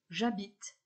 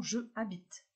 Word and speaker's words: j'habite: verbes avec 1h initial pour habiter le h est muet donc nous allons avoir une révision exemple j'habite et non je habite pour hurler le h